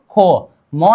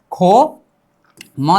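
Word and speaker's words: 곰: उच्चारण करनी चाहिए, ख, ख प्लस ए क्या है, ए हमारे हिसाब में ओ है ना, ख प्लस ओ खो, म नीचे आ जाने पर उच्चारण क्या होनी चाहिए म ही होगा, यहां पर कोई रिप्लेसिंग तो नहीं होगा ना। यहां पर होगा खो, म नीचे आ जाने पर उच्चारण क्या ही होगा म ही होगा, मतलब उच्चारण क्या होनी चाहिए खोम, क्या खोम, उच्चारण कीजिए खोम, ठीक है, खोम का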